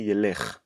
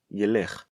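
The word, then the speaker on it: ילך: In third person, future masculine form, we do say Yelekh. Hu, Yelekh. That is correct.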